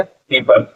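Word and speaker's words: people: पी एल ई फल, ये last का ई हमारा कैंसिल आउट हो जाएगा, ठीक है, साइलेंट हो जाता है, इसको नहीं पढ़ते हैं। पी ओ पल प्यूपल क्या हो जाएगा पीपल।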